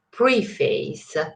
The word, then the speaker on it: preface: Attenzione alla pronuncia, non preface o qualsiasi altra cosa, but preface, ok, non preface, preface to the lyrical ballads,